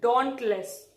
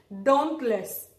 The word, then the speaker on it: dauntless: you all including me we have learned this pronunciation dauntless so if you are comfortable with this you can proceed with this I am just letting you all know that British pronunciation is don't list don't list alright okay